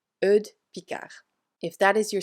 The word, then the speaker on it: Eudes: Eudes Picard, by the way, it's not Eudes or something. It's a really weird and funny French first name, but it's written this way and it's pronounced Eudes. Eudes Picard.